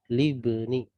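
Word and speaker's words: لِابْنِ: Nah, ini bacanya adalah libni. Aslinya adalah li ibni. Tetapi ya, karena ini adalah hamzah wasal maka tidak terbaca kalau dia berada di tengah. Maka menjadi libni.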